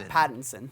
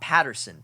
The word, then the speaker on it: Pattinson: at Pat Patton yeah Pattinson Pat not Patterson Patton's yes okay two